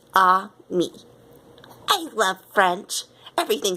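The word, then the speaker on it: ami: mean my mom says you say it like this ah me I love French everything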